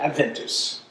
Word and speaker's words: Adventus: So, from early days, Advent was called Advent because of the Latin word, and you're going to hate my church pronunciation rather than my classic pronunciation, Adventus, right?